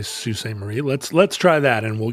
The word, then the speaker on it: Sault Ste. Marie: Well, I would say Sault Ste. Marie.